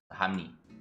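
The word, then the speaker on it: 합리: Here we have hap, which ends in a piup. The next syllable is li, which starts with a lir. So because of this, the piup at the end of hap will change to become a miam, and the lir at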